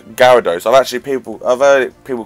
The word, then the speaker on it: Gyarados: is the weirdest poke one name like to pronounce like because I like mmm so you've got like gyarados i'll actually people other people call it gyrados guy era dos and then you've got like